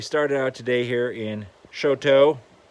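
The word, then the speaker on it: Choteau: So we started out today here in Shoto. Looks very much like the French word chateau.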